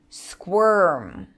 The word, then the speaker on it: squirm: Squirm. Squirm. I made him squirm. We have an R there.